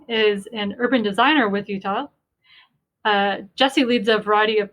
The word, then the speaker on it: Utile: Matthew and Jessy, please feel free to correct my pronunciation of Utile if I'm getting it incorrect. Utile. Utile.